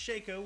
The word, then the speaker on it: Shaco: They break out a Shaco, which is pronounced Shaco. We have a clear definition. It's Shaco because his clone is called Faco, so it's not Shaco. We have now had clear delineation that it is Shaco.